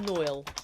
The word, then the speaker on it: noil: I think it's pronounced Noil. N-O-I-L. I'd pronounce that Noil, would you?